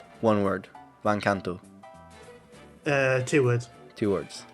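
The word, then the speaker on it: Van Canto: is the name oh vancanto how do you spell that van v a n SP c a n t o one word van Kanto uh two words two words van Kanto so yeah van Kanto with take to the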